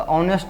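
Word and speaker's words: honest: तो ऑनेस्ट में उच्चारण आपको स्वर्ण वर्ण से शुरू होता है, तो एन लगाइए आप, यहाँ कैपिटल हो जाएगा, ठीक है।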